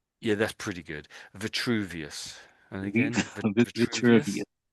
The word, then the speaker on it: Vitruvius: Verius. Yeah, that's pretty good. Vuvius.